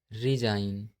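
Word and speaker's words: resign: जब एन से पहले जी आता है तब हमेशा जी साइलेंट होता है। जैसे डिजाइन, रिजाइन, कंपेन, नोम, शाइन।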